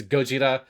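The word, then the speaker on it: ゴジラ: And to be clear, in Japanese it's there's just a onelet difference. It's Gojira is Godzilla and God is gorilla.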